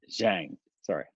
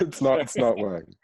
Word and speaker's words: Zhang: I mean, Lily Zhang, however her name is properly pronounced. Yeah, she Oh, was not she was Wang. surprising. Um, Zhang. Sorry. Zhang. I was Yeah. calling her Lily, Wang. Zhang. it's not Wang.